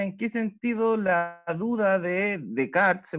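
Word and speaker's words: Descartes: pregunta después explica en qué sentido la ayuda de cart se pronuncia bello desde ese filósofo ya en qué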